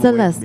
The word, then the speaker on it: Celeste: Celeste, kind of like the frozen pizza, but not.